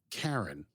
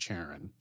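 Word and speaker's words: Charon: I look this up they're pronouncing the ship Karen not Sharon and not Sharon which I would say but it's fine slightly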